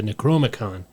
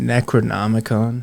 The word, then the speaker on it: Necronomicon: who had encountered the necromicon and gone mad John was determined to find the book and learn its Secrets do you mean Necronomicon yeah I probably butchered it he searched far and